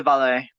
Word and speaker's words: valet: it's a that's uh that's pronounced in valley valley i didn't know what the hell that was so i just said veil it's in valley it's pronounced i said it was veil but then uh when looking at the uh when actually listening to the voice acting of it it's the valet okay and with that